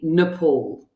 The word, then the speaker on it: Nepal: look at nepal so say this word after me nepal okay good because that is often something that students struggle with pronouncing nepal right please can i ask